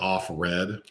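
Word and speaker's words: Offred: is changed to like it's spelled like off red off of Fred a Fred off Fred and she's the one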